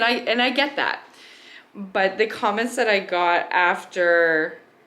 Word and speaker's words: Butt: put it out there my last name as some of you know is butt and it's spelled like your butt like b u tt so a lot of